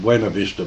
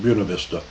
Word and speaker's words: Buena Vista: I'm always tempted to call it Buena Vista, but there they pronounce it Buena Vista, Colorado, by the Women's Monastery, or Bishop Gregory's Men's Monastery.